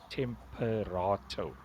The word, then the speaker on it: Temperato: it with a K, Temperato, like temperature, but rato at the end.